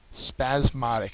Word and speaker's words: spasmodic: is abandon number 18 spasmodic spasmodic is how you pronounce this word um it is an adjective second syllable is accented it is fitful or